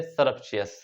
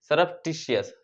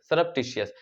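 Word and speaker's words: surreptitious: अब देखिए इसका जो आंसर है वो बी बिल्कुल राइट आंसर है, सरप्शियस। सरप्शियस नहीं होता, ये होता है सरप्टिशियस, सरप्टिशियस, जिसकी स्पेलिंग होती है SURREP, सरप TITIOUS, सरप्टियस।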